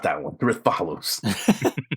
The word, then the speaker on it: Rathalos: The Rathalos. It's pronounced Rathalos.